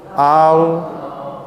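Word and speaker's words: الله: lam alif dan lam kalau saya tambahkan Alif dan lam di depannya ilah ini bacanya Al alilah saya gugurkan hamzahnya alilah i-nya digugurkan maka kita membacanya a lah lalu kemudian Hamzah yang digugurkan dinaikkan dalam Unu tasydid Allah Allah Allah makanya Allah itu dua harakat lamnya itu makanya berdiri di tengah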